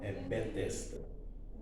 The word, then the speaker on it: Bethesda: que foi estudado aqui, eu acho até a pronúncia, tem que tomar muito cuidado, porque a pronúncia pode ter sido feita, Betesda, né?